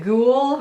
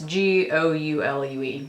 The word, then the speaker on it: Goulue: And I don't know, is it Goule or Goulet? I don't know how you say it. It's Goulue.